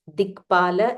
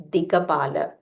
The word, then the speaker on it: Dikpala: Again, here some places the pronunciation is Dikpala. In some places it is Dikapala. So you can use either Dikpala or Dikapala.